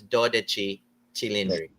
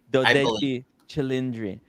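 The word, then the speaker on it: 12Cilindri: you pronounce so if if we say the number if We speak the the the number 12 in Italian and add the word chindri. I I believe it's doi chindri doi chindri.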